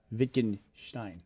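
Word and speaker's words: Wittgenstein: Someone's correcting me on my pronunciation of Vickenstein. They said it's pronounced Victinstein.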